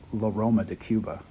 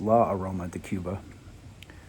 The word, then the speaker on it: La Aroma de Cuba: last video I think I was calling them Loma de Cuba it's law Aroma de Cuba learn how to say